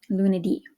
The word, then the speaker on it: lunedì: Okay, notice the accent on the I there, lunedì.